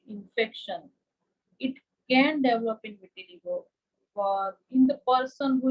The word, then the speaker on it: vitiligo: So doctor, do talk to us more about the medical condition vitiligo. Did I pronounce it correctly? Yeah, vitiligo.